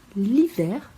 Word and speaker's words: l'hiver: L'hiver, o H tem um som mudo, donc l'hiver.